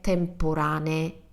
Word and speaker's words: temporanee: So, mostre temporanee. And I do pronounce two E's at the end.